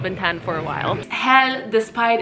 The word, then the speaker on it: Hel: I have not been tanned for a while hell despite its name it's it's pronounced with just one else so it's not